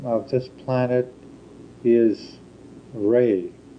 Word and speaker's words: Rey: The name of this planet is Ray. Ray.